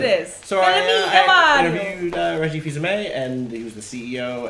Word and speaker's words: Fils-Aimé: Oh, is that how you pronounce it? Apparently. It's Fil-Aimé. That's how it is. Fil-Aimé. That's what it is. So I interviewed Reggie Fils-Aimé, and he was the CEO and president of Nintendo NOA.